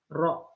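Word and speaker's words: ρ: Nah, kan kita tahu tadi, ya, P submerged per V objek itu sebanding dengan massa jenis objek, ini rho ya, rho bacanya, per massa jenis fluidanya, ini air, water.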